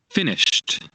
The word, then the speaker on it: finished: Finished. Yeah, look, we have the T sound here.